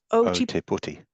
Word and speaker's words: Ōtepoti: Do you want to give me that pronunciation, Simon? Ōtepoti. Ōtepoti, New Zealand.